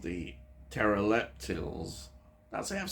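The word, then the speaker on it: Terileptils: Now, fugitive aliens called the pteroleptils, that's it, I've said it right, yeah, pteroleptils,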